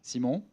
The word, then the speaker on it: Simone: name my name is Simone Oh it's pronounced Simo I also answer to Simon it's French it's French ah it's